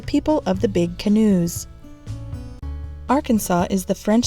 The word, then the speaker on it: Arkansas: You can thank the French for the silent S at the end of the word, which is the reason that Arkansas and Kansas are pronounced so differently.